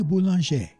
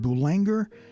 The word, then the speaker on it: Boulanger: And the first composer that I'd like to feature is Lili Boulanger. Of course, the name looks like it should be pronounced Boulanger, but don't you dare pronounce it that way.